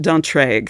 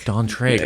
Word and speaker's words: d'Antraigues: The count Dantra. Dantree.